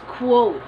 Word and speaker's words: quote: The correct pronunciation of this word is quote. Quote. May kuo tayo. Dapat naririnig yung kuo.